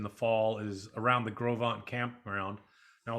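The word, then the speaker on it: Gros Ventre: fall is around the grovant campground now a lot of people don't know how to pronounce grovan it's gros it's french g-r-o-s v-e-n-t-r-e so they say how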